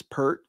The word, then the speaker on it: Peart: I would imagine it's Pert, and I only say that because arguably the greatest drummer of all time, Neil Pert. Rush. That's how they pronounce it, and it's exactly, and it's spelled the same way.